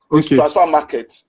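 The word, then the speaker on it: Transfermarkt: It's spelled transfer market, but it's transfer market. You just remove the E.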